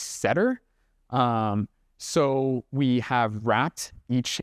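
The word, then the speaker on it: sedtR: So the answer is a R package pronounced setter.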